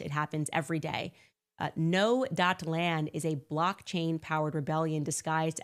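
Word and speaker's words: Gnoland: Before I tell you about the LA case, guys, I first want to tell you about Noland. That is spelled G-N-O-Land.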